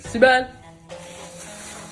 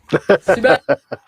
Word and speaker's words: Sibel: Sibel, happy birthday.